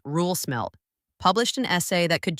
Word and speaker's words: Roel Smelt: This week, Roel Smelt, pronounced Roel Smelt, published an essay that could change how you think about the future of energy in Europe.